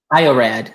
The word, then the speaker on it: iorad: IORad, yeah.